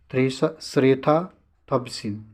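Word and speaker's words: เศรษฐา ทวีสิน: ये आपका श्रेथा थविसिन, आप ऐसे देख सकते हैं प्रोनाउंसिएशन इसका, श्रेथा थविसिन।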